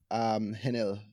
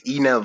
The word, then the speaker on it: Henel: It's Enel. So the H is Enel silent. Yeah. Sorry, the H is silent.